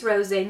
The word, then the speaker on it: Rosé: in the shade Rosé I think it's Rosé not Rose because it has an accent on the e um but you will